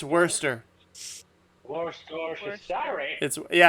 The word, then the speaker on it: Worcester: Worcester sauce Worcestershire it's worser more store for Saturday yeah I recently found out it's pronounced worser I'm like you mean